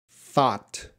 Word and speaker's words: though: could you pronounce though thought through though thought through every everyone gh is silent grace I hatched the